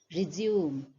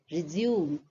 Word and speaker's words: resume: used as a verb, it is two-syllabic, resume. And what you will notice is the stress is more on the second syllable, resume, resume, whereas the first one, resume, resume, resume.